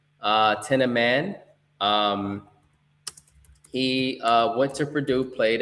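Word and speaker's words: Thieneman: And with our first round pick, we selected Dylan, and I'm gonna get his pronunciation right, Tenaman. Tenaman.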